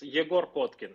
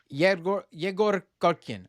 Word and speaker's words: Egor Kotkin: First part, it's Egor Kotkin. It's in Russian sounds like that. Egor Kotkin.